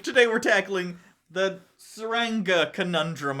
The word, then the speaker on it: Tsuranga: today we're tackling the Ranga conundrum I believe the T is silent in this episode the